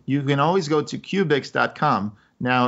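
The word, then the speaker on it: Qubix: a question absolutely you can always go to cubics comm now it's spelled Q B I XCOM there's no you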